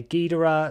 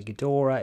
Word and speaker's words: Ghidorah: the name I think sometimes I say Gora sometimes I say gadora it doesn't really matter however you say it even in like when these films are dubbed sometimes the characters in different movies say his name differently but we're probably going